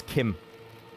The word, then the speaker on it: Kim: It's pronounced Kim.